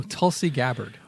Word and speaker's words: Tulsi Gabbard: Oh, Tulsi Gabbard.